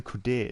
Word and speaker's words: Qadir: I know Qadir is pronounced correctly because somebody told me how I was doing it wrong.